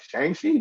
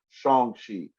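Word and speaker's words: Shang-Chi: my name is probably she's like shang shi no shong shi he tells her i pronounce his name correctly and then that's how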